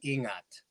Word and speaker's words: ingat: I'm stateside Filipino, so um, you know, one of the things that we say is ingat, ingat, Okay, which is Ingat. ingat. Yeah, ingat, I believe is how it's spelled, and it's Okay, it's it's it's basically,